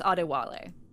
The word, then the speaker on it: Adewale: Yeah, his first name is pronounced Adewale.